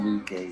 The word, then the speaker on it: Luque: Is that how you pronounce his name? William Luque, yeah.